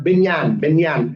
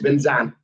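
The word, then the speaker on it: Bình dân: Now, Kom Bindan or Binyan is how we would pronounce it. In Hanoi, it's Binzan.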